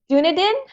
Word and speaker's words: Dunedin: I have Claire in Dunedin, Otago, New Zealand. Did I pronounce that correctly? Otago, New Zealand. What is it? Dunedin?